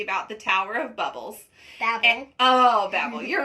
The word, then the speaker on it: Babel: Also, she kept correcting me because I kept saying it wrong. So it is the Tower of Babel.